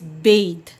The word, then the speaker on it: bathe: Verb plus E when you have at the end of a word, it makes the sound as the. Here it is bathe. This E is silent.